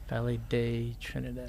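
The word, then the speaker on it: Valle de Trinidad: Valley de Trinidad. Valley Day. I've been saying it wrong.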